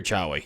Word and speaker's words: Chewie: going with chewie or chowi that's an a bro is that chawa or chewie it's pronounced chewy though okay okay hey i'm